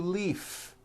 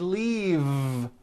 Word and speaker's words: leave: and i need to leaf is that correct no it's not leaf with an unvoiced f i should have said leave with a voiced v sound fisa she just received